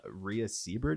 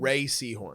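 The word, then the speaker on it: Rhea Seehorn: I think uh, Ria Seabird, is that how you say her name? Ray Seahhorn.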